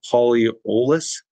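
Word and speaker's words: polyols: But next one I'll go to is sugar alcohols, known as polyolus. Am I pronouncing that right? Yes.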